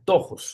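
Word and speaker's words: πτωχός: que la determina y es la palabra tojos. Pettojos, o sea, tojos se pronuncia.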